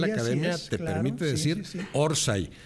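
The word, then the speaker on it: orsay: en la mente decirse orsai que es en el origen un offside mal pronunciado muy mal pronunciado en españa que deriva en orsai y que después se acepta acentuada en la o rsa y orsai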